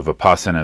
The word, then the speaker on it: vipassana: people go to a vipassana retreat uh so vipassana is how we pronounce it in uh Pali the pashana is how